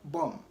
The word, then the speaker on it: bomb: pronounced in a word noun B is usually not pronounced when it comes after M at the end of a word so like I mentioned earlier b-o-m-b has B coming after M and so the B is silent don't say bomb rather